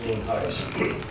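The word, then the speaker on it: Nienhuis: For the record, I'm Sheriff Heiss, N-I-E-N-H-U-I-S, and it's pronounced Neen Heiss.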